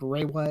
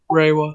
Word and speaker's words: Reiwa: It's I think it's pronounced Reiwa era. Reiwa.